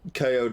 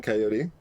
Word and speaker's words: coyote: apparently uh yeah perro coyote seemed like it fit better with the uh like vaguely rhythmic meter they were going for rather than coyote those are both uh ways to pronounce it so we want to